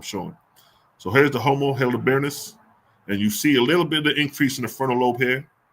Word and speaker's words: heidelbergensis: Hildeberg, how you pronounce that? Let me see. How you pronounce that? If there's a pronunciation for that on here. There is. Heidelbergensis.